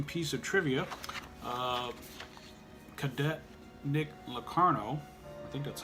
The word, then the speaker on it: Locarno: Sternbach and interesting piece of trivia cadet Nick Locarno that's how you say his name he was